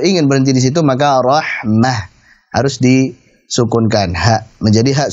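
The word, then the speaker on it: رحمة: Ketika wakaf selalu dibaca dengan huruf ha sukun. Rahmatan, rahmatin, rahmatun bacanya selalu rahmah.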